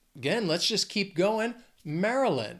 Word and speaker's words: Maryland: let's just keep going Maryland this state has three syllables the stress is on that first syllable Maryland it's not Mary you don't really hear that why it's just Maryland also think of food